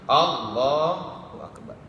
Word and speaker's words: Allahu akbar: A-nya harus pendek. Allah, lohnya yang panjang. Allahu akbar. Yang berikutnya ada mumad diba pada lafaz akbar.